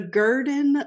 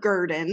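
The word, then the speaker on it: Gurdon: four yes yes oh boy it's ready the garden light never heard of it I'm excited I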